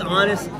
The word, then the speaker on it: honest: Also, why is honest like that? It should be honest. You don't honest. Pronounce the H. That's what I'm saying. The H is silent.